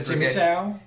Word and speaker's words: Chimecho: I'm the one who said Chimichao? Yeah, I'm not going to say Chimecho. I said it for here just for fun, just to say it right.